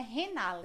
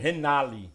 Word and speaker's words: Renaly: Boa noite você só que começar corrigindo a pronúncia do meu nome é renale renale isso eu tô no município na gestão desde